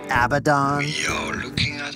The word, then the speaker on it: Abaddon: How do you go about pronouncing it? Just love it. Abaddon.